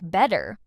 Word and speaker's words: better: It happens specifically when T appears between two vowel sounds. That's why better ends up sounding like better, like in these examples.